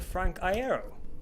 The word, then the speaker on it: Frank Iero: Frank Iero. Thank you very much. That was a really good pronunciation of my name, by the way. A lot of people don't get that.